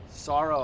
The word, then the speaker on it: Saro: Armenian Armenian okay so I figured like sorrow I've never ever heard sorrow yeah s a r o it's spelled the way you pronounce it s okay so I